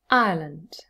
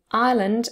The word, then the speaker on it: Ireland: really just one syllable and then ireland of course has two syllables i and then lend but within the first syllable you have the um the triphthong i plus the schwa together now there's something important